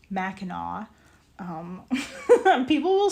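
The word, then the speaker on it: Mackinac: it's like um okay for one thing it's pronounced Macau um people will say macac and that is not correct um um uh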